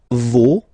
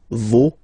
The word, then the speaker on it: vos: Okay, and then for the plural, nos, vos, and then leur. Okay, so remember, even if you've got this final S, you don't pronounce it, as it was the